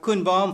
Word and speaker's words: Koen: And then we have Koen Baum from Hart for Den Haag. Nice pronunciation. Yes. Thank you so much. Yeah, a lot of people pronounce it Cohen-Baum.